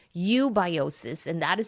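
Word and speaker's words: eubiosis: And that when it is in balance, it is called ubiosis. And that is spelled e u b i o s i s.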